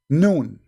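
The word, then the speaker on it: ن: You see, in Arabic, when we pronounce a letter by itself, we pronounce it as if it's a word, but it's not a word. It is a letter.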